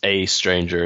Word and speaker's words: aeStranger: how do you pronounce a stranger it's just a stranger it's just that that sort of letter combination so it's a stranger